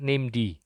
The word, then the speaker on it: named: Kita bacanya named, name daemon.